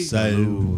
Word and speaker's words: salud: Salud. Like salad. Salud. Salud. Salud. It's like salutations. That's like where it comes from.